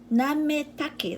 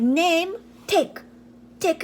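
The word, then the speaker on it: なめたけ: Nametake, like name, take your name, take. Nametake. You know, Japanese letter, they pronounce more, everything pronounced.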